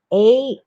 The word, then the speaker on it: Azusa: Azusa is Azusa.